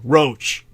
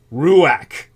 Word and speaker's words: ruach: TW most important differences are o oron versus ruach that spelled r u a you'd think it'd be pronounced something like ruou or roach but it's ruak it's orgon versus ruach or magic as in stage magic leery man